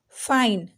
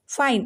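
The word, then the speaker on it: fine: अब देखिए फाइन ना पे रुक जा रहे, ई की प्रोनाउंसिएशन नहीं हो रही है। नोट, ई की प्रोनाउंसिएशन नहीं हो रही है, ये साइलेंट है यहाँ पे।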